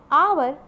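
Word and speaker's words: hour: Similarly third में है हमारे लिए ऑनेस्ट, ऑनर, आवर और आयर। ठीक, तो इसमें भी हमारा H साइलेंट है।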